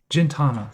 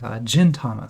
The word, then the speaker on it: Gintama: another garbage pale kids jintana sorry I'm so Gintama so the soft G over here that's why I was getting it wrong these are all hard